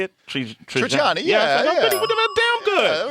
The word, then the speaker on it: Trigiani: Trigiani, yeah.